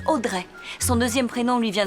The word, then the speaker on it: Audrey: et Joséphine audrify ah c'est là que la plupart des experts se trompent en réalité ça se prononce Audrey son deuxème prénom lui